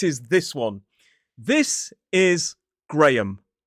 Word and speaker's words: Graham: 2 syllables, stress on the first, so it is G-R-A, Gray, So there is a schwa in the second syllable. Graham. The H is silent. I've heard some people say grey ham, which makes it sound like a discoloured type of meat, but this is most definitely Graham.